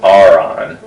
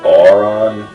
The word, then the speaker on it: Orin: Actually, I've been told it's pronounced Aron, not Oron, but whatever, I don't care.